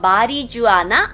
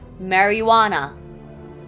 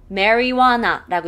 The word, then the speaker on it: marijuana: 마리주아나? 아니요. 이걸 marijuana. 미국식 발음 marijuana라고 읽어요.